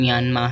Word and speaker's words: म्यानमार: का एक देश है बर्मी भाषा में र का उच्चारण य किया जाता है अतः सही उच्चारण म्यानमार है इसके उत्तर में चीन